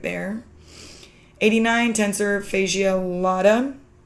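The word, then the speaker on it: latae: 89 tensor fasia lada it's not latte it's pronounced lada but TFL for short that's the outside of the thigh near the hip.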